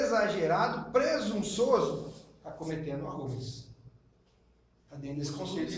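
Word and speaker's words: ὕβρις: Rubris. A pronúncia é um H. Um H com som de R. Rubris.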